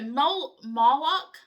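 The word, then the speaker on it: Moloch: So, Molo, M O L O CH or Molech, M O I always say Molech, M O L E C, which I know is probably the southern translation, I mean pronunciation, originated with the Phoenicians.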